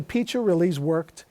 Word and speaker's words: Piccirilli: Piccirilli? They called him Uncle Peach, was the oldest. Yeah. That's how I learned the pronunciation.